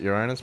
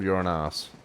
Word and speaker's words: Uranus: Some people can pronounce it Uranus, but I guarantee you it's called you're an ass.